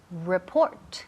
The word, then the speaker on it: report: A report. El énfasis cae en la segunda sílaba.